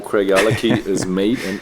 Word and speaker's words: Craigellachie: you can I can show the world how Craig alaki is made and how it's spelled or how it's pronounced that way uh